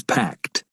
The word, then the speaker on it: packed: Noten que no se pronuncia packed. La E no suena. Y esto con casi todo verbo terminado en ED. Se pronuncia packed. Packed, como si fuera una T.